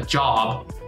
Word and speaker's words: job: So we kind of try to pronounce it the same way as in English. A job, just make that O a little bit instead. Un job.